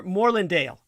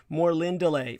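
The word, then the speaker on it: Morlindale: more lindeley more more more lindale uh is how english would pronounce it but the actual elvish pronunciation is more lindelay for those of you who want to look it up it is spelled m-o-r-l-i-n-d-a-l-e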